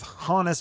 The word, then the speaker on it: Hannes: It's actually pronounced Hannes.